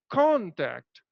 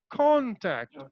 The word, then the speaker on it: contact: level corn Tech okay now how I will pronounce it as um I will pronounce it as contact contact you see I'm stressing upon con but I'm just politely delivering the words act contact contact depend depend